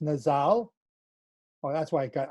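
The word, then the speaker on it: נזל: It's Strong's 5140, pronounced Nazal.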